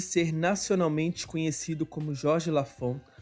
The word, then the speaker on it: Lafond: nome escreve porque o meu lafon é com B mudo se escreve com n